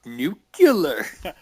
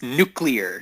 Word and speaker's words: nuclear: It's pronounced nucular. Well, it's not Homer. No, it's nuclear.